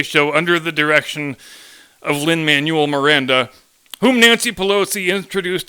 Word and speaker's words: Lin-Manuel: never mind that as she said the first name as Lynn Manuel when even I know he pronounces it Lin Manuel and then somehow she